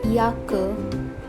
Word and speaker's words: Jacke: Yacht, Jacke. Yacht, Jacke. The sound of J is that of Y.